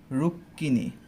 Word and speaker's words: রুক্মিণী: উচ্চারণটা হচ্ছে রুক্মিণী, রুক্মিণী। ওকে, এই বানানটাকে আমরা অনেকেই রুক্মিণী বলে থাকি, কিন্তু কখনোই এটা রুক্মিণী হবে না। কয়ের সাথে ম যেহেতু যুক্ত আকারে আছে, এটাকে রুক্মিণী উচ্চারণ করতে হবে, ঠিক আছে?